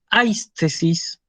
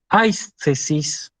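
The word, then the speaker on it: αἴσθησις: que empieza por diptongo se lee hay tesis hay tesis que significa sensación fíjense que yo acentuó sobre la alfa pese a que el acento como podemos ver está escrito sobre la gota yo lo pronunció sobre el alfa porque porque esto es un diptongo y el diptongo se considera como una unidad la siguiente palabra okeanos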